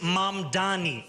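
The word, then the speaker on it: Mamdani: And furthermore, the name is Mom Dani. M A M D A N I. You should learn how to say it.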